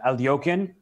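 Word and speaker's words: Alekhine: mean if especially as an English speaker uh alokin if you've never seen it before you definitely wouldn't spell it a l e k h i n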